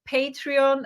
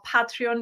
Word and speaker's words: Patreon: The idea is this: to create a Patreon or Patreon, depending, it's a Patreon in UK, Patreon in US pronunciation, Patreon community, where if